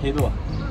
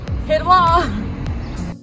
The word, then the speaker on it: Hej då: Hej då. Hej då.